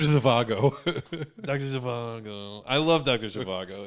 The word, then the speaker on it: Zhivago: the the d is the z is pronounced h dr zavago doctor i love dr